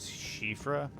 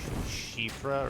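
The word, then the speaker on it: Siofra: the correct pronunciation is shifra and it's a Celtic name lot of say CRA or sofra but I think it's shifra or shra if you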